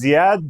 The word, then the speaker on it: Zeyad: you not on me uh my name is zad but I go by uh but before